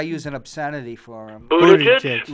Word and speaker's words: Buttigieg: how do you pronounce his name? Because I use an obscenity for him. Buttigieg?